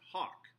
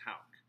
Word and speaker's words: Hauck: and that's call it hawk people americanized that it's actually german and it's pronounced hauck i won't be offended